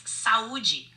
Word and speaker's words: saúde: Did I say it right? Close. It's saúde.